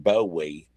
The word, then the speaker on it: Bowie: He pronounces it like Bowie because that's how they say his name in England, and then he barfs.